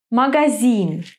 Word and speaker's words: Магазин: In some three-syllable words, the accent falls on the last syllable. Хорошо. Сыновья. Телефон. Магазин.